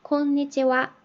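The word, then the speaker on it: こんにちは: 라고 발음을 할 거에요 그리고 곤니찌와 오늘 글은 어떠세요 하고서 오늘은 이라고 이렇게 축약된 형태로 이게 굳어져서 관용적인 인사말이 된거 기 때문에 얘는 주격 조사 처럼 생각을 하시고 콩 니체와 이렇게 발음을 하시면 됩니다 오늘 이렇게 일본어 히라가나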